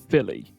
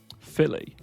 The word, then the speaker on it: Philly: So, yeah, this is Philly. Kind of like a Philly cheesesteak. Philly.